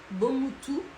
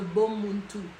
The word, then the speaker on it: Bomuntu: Ce qu'on appelle le Bomutu. Bomutu, ou bien il y a certaines personnes qui prononcent ça en disant le Bomuntu.